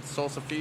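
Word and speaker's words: salsify: is what salsa yeah salsa phi is how it's spelled but salsa fee is how it is pronounced no idea yeah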